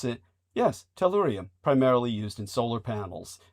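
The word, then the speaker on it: tellurium: Uh Brendan has uh brought to our attention that torium or how how do we pronounce it? Yes. Tallurium primarily used in solar panels uh in this day and age.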